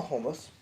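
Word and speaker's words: khomus: about jaw Harps unless you're talking about yakutian homus so hold on just a second let me grab a homus a homo and H where you hiding here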